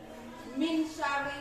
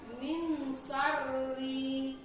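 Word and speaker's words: مِن شَرِّ: Min syarri ini termasuk ke dalam ikhfa hakiki karena ada huruf nun mati. Jadi bacaan nun ini dibaca samar atau kurang jelas. Jadi bacanya min syarri.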